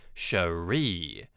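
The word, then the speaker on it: Cherié: One thing I'd like to point out, girlfriend's name is spelled C H E R I E with a little accent over the last E and pronounced Sheree.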